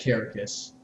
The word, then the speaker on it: Kerekes: i sing for citizen carricus a for a nobody knows how to